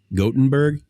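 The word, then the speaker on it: Gothenburg: that Chris gottenberg yeah it's not goth it's gotenburg yeah got got or goat is it a long o oh no no got short Gutenberg Gutenberg Gutenberg Beauty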